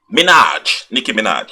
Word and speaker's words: Nicki Minaj: Okay, see, I can't even pronounce her name properly anymore. This is getting ridiculous. Nicki Minaj.